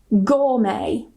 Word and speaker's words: gourmet: Gourmet. What was that? Yes. Gourmet. Ya, ini sering banget lihat nih gourmet nih. Ya, oke. Berarti kan sudah tahu kalau ini dibacanya silent T.